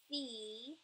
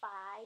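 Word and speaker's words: φ: Fee, not phi, but fee.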